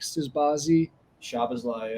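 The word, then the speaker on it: Szoboszlai: he's a Winger Alexis McAllister and then Dominique suzbazi shabazlay yeah and it's like oh man I was just not the right pronunciation but that's okay a lot of Z's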